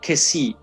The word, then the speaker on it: Kessié: likes human sweet called kessie i think if there is an accent i'm not sure for where he's from but in french that accent means that word has to be pronounced that letter e has